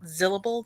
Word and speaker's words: Zillable: You can find me on the internet on Blue Sky and Mastodon and Twitch at Zillable, that's syllable with a Z, or on my YouTube channel, which is Zilla's Athenaeum.